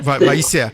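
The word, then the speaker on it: וַיִּיצֶר: C'est Vaïser. Voilà. Tu as une première syllabe, c'est vaille. Une deuxième syllabe, yi. Le yod avec le i. Le y. Et puis vaïser.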